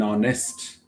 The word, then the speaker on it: honest: Look at when the word starts with H and then H is silent. Forget not to keep in your mind that it takes article an R. Okay. Similarly, an honest.